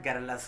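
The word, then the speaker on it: garrulous: Actually pronunciation जो होता है गैरुलस होता है।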